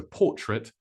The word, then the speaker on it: portrait: portrait Edward paid the artist to paint a portrait of his wife noticed how the AIT there is pronounced it portrait four for her latest piece